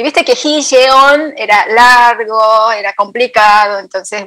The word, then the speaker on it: 지연: Mi nombre en coreano es Ji-yeon.